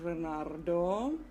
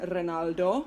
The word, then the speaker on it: Renardo: as this guy here renardo i always end up calling him renaldo with an rl but today i will be trying to actually pronounce his name rights the game i'm about